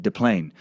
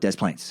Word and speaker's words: Des Plaines: I thought it for sure would be like Des Plaines. But apparently, the locals have decided to fuck the French pronunciation and call it Des Plaines, according to several videos I found.